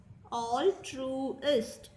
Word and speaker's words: altruist: Note the accent mark given on the first two letters. Altruist.